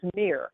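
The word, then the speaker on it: Mihr: So this angel's name is Mir. It's spelled M-I-H-R.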